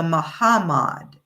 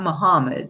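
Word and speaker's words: Mahamad: So in 1658 the Muham the Mahhammad it's not Muhammad it's pronounced differently ma mahhammad I should say decided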